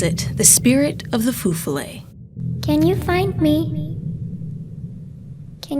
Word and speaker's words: Feu Follet: to point out that I thought it was pronounced Feu Follet at first, but I interviewed a former folklore professor, and he said that it's actually pronounced Feu Follet.